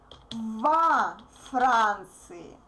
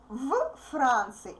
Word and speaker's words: во Франции: If we say в Франции, it will be really confusing because the a voiced consonant becomes voiceless before the voiceless consonant. F is voiceless, therefore v becomes voiceless too. Francie. It's not convenient to pronounce two similar sounds together, right? And you see, otherwise we have three consonants together. It's not convenient. Therefore, we put o and v becomes vo.